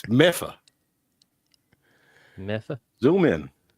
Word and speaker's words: Medford: It's Meffa. Meffa. Zoom in. How you spell it?